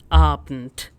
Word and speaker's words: Abend: Is it like Abend or Abend? So German A is A. It will be Guten Abend, which is good evening.